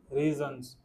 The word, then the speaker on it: reasons: Everything, फिर आ गया, इसको इसको प्रोनाउंस कैसे करेंगे? REASONS। रीजंस, हाँ, आपने कैसे बोला था?